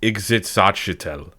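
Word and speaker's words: Ixitxachitl: It is pronounced exitel.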